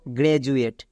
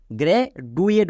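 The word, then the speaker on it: graduate: জন্য বর্গীয় যোগ হবে তাহলে এর উচ্চারণ কি দাঁড়াবে গ্রে জুয়েট বাট একে কেউ ভুল করেও গ্রে ডুয়েট বলো না কারণ ডি এর জন্য ডো করো না তাহলে জি আর এ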